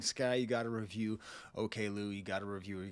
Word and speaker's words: Oklou: really great work and he was pronouncing it okay Lou and that that was correct and so I didn't